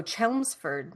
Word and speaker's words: Chelmsford: One note in Chelmsford is said with the CH, so Chelmsford, like a ch sound at the beginning of the word change.